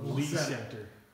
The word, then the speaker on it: Le Center: The gentleman that same with Le Center, no, Lee Center. Yeah. It's always Le Center. Yeah. I've And got. always That's where LeSueur. our shop is in Le Center. Le Center. Lee Center.